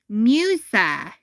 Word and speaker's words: Musa: The first part of the name is pronounced like music. Oh okay. Musa, that's how you spell it.